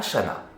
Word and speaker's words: Chanaz: dans le coin qui on prononce le z mais normalement devrait pas cela serait une semaine où on devait aller à chanas et on y aller